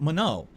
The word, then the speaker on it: Manon: a dollars is actually Manon is pronounced like mono it's a French name so the last n would be silent is that true is